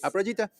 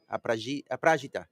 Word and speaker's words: Aprajita: I kept Aprajita. You said it right. Better. You said Okay. it right. Yeah. AP, Aprajita, not Aprajita.